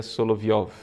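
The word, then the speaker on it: Соловьёв: fala na de Vladimir soloviev a pronúncia Na verdade seria solovioff e os três diálogos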